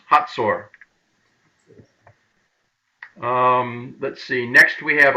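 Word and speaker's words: Hazor: H-A-Z-O-R is pronounced Hatzor.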